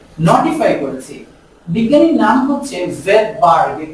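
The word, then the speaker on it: Svedberg: ভেটবার্গ নামক বিজ্ঞানী সর্বপ্রথম এই রাইবোসোমের ইউনিটগুলোকে আবিষ্কার করেছেন, আর এই জন্য আমরা s শব্দটা ব্যবহার করি। s মানে হচ্ছে কি? ভেটবার্গ। ওর প্রথমেই একটা সাইলেন্ট s রয়েছে।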